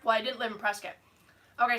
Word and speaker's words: Prescott: Well, I didn't live in Prescott. Okay, so Prescott, Arizona looks like Prescott. And so a lot of people would say Prescott.